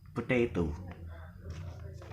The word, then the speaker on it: potato: uh First is also about heavy, where it is uh, stress on penultimate, where the penultimate is heavier than the first syllable or the last syllable, such the word potato. Potato.